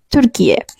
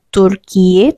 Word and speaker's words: Türkiye: Juni 2022 lalu sebutan negara ini secara internasionalnya officially sudah berubah menjadi Turkiye. Jadi bacanya itu bukan Turkiye tapi U-nya itu enggak kayak gini gitu.